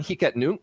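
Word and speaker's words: Hic et Nunc: just get started on hika nuke which i have read is the proper pronunciation um transactions are extremely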